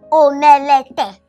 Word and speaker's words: omelette: Omelette. Why you go call an omelette? Uju, it's pronounced as omelette, not omelette. This E is silent.